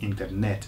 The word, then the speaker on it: internet: internet internet internet okay so just miss out the the Okay Internet and skew the screw the emphasis to the last day internet this one investig investig